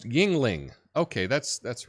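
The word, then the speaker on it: Yuengling: you out perhaps um yeah it's pronounced Yingling okay that's that's right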